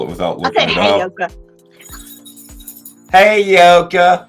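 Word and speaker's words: Heyoka: Hey, Yoka. Hi, Yoka. Sounds like she's saying, hey, y'all, from like Georgia. Hey, Yoka. Hi, Yoka. It's like, hey, you okay?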